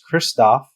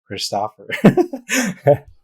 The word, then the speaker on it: Kristoffer: Thankfully, there's a movie called Frozen where the main character, his name is Kristoff, but then now people call me Kristoff. I'm like, actually, it's Kristoffer.